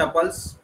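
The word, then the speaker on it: tuple: We have list and टपल्स, ट्यूपल भी बोलते हैं कुछ लोग के प्रोनाउंसिएशन के डिपेंड करता है।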